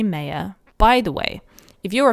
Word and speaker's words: Meyer: And then her last name is M-E-Y-E-R. Meyer.